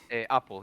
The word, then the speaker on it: Apple: your name is it is it apple or was i saying it wrong apple yeah okay so what's happening actually yeah it's from the fruit it's just a a